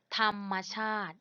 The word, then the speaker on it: ธรรมชาติ: สอง คำ ว่า ธรรมชาติ สะกด ว่า อา ทอ ทะ หาน หัน มอ ทำ ชอ อา ตอ อิ ท ชาติ ธรรมชาติ เห็น ไหม คะ เห็น ไหม ว่า ทอ ทะ หาน เป็น พยัญชนะ ต้น รอหัน แทน สระ อะ ใน คะ แล้ว มอ ม้า เป็น ตัว สะกด มัน จึง อาจ เหมือน ทอน